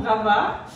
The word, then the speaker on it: Ravat: Eh ben, on s'appelle donc Fred et Marion Rava. Ah, c'est Ravat, t'as vu, c'était pas Ravat. Ça y est. On se posait la question si on disait Ravat ou Rava. Rava, on ne prononce pas le T.